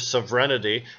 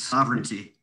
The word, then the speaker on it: sovereignty: states government those of severity and being able i said it wrong again didn't i it's sovereignty sovereignty thank you it's gonna